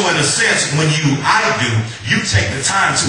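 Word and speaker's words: ἰδού: thank you holy ghost in the Greek uh it's pronounced I do everybody say I do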